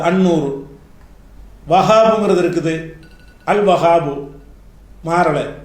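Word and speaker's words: النور: நூறுங்கிற வார்த்தை இருக்குது, அல் நூறு, அல் நூறு சொல்லக்கூடாது, அந்நூறு.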